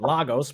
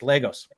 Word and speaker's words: Lagos: on the proper pronunciation I was calling it Lagos because I'm from the West Coast United States and I don't know anything and she told me no it's Legos all right all right